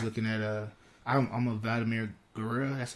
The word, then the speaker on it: Guerrero: I was looking at I'm a Vladimir Guerrero. That's how you say it? Guerrero.